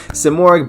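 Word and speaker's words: Simorgh: that hurt the most simorik bird uh of sovereign sovereignty i believe is how you say it so of course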